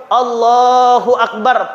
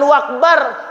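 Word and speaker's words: الله أكبر: harus betul Bapak Ibu Allahu akbar pakai Alif pakai Hamzah jangan jadi wau Allahu akbar ah salah ya maka anak-anak kita nih kita Ajari kita perhatikan kita awasi Bacanya apa Allahu Akbar Akbar jangan wakbar dan juga bnya jangan panjang nantiaja panjang salah Allahu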